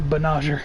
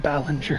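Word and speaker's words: Banagher: Banager. Like Ballinger. No, Banager, not Ballinger.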